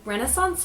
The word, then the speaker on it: Renaissance: takes place during the Renaissance period of Italy and I do pronounce it Renaissance although I have heard people pronounce it Renaissance so tomato tomahto type deal just go with it but Genevra finds